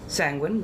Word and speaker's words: sanguine: And they're like, well, yes, sanguine rhymes with penguin, that's the mnemonic that you have been giving us, so we are penguins.